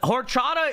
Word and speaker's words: horchata: No, horchata is so good. Should we have to say it with a Latin flair? Horchata. Do you get horchata? That is the right way to say it, right?